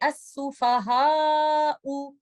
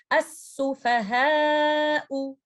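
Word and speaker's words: السفهاء: Do not say as-sufaha'u, or do not make it imala like this. As-sufaha'u. Both of them are extreme. You have to stay somewhere in the middle. So try to recite fa and ha with an apple sound. As-sufaha'u.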